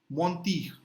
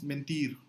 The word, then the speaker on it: mentir: Mentir, mentir, right? En is on, mentir, to lie. It's the same exact spelling in Spanish, the same exact meaning, but the pronunciation becomes mentir in Spanish.